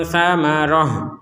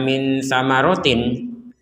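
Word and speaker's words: ثمرة: Ini namanya ta marbutoh yang kita membacanya itu dengan ha kalau berhenti di sini. Min samaroh. Jadi jangan dibaca min samarotin. Jangan dibaca min samarotin kalau berhenti, ya.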